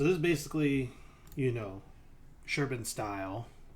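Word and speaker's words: Șerban: is basically you know sherban style right why do I say sherban because it's it's Romanian it's spelled serban but like sherban I think is how it's pronounced he probably just goes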